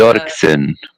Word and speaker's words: Doerksen: Yeah, it's German and Dutch, so it would have been there would have been an umlaut over the O, so Doerksen would have been the Dorksen.